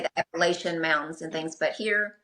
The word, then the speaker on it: Appalachia: But just mountain culture and Appalachia. Well, tell me this. I've heard various Yeah. various instruction on how to pronounce that word.